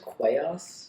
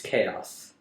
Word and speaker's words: Qaos: But it's chaos spelled with a Q. Q-A-O-S. Interesting. Wouldn't that be I pronounced think that's just him Quaos? spelling chaos. Oh, yeah. Wouldn't that be just Quaos? It's chaos.